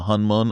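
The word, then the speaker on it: Honmoon: Well, it's spelled HON, but the O makes a U in Korean.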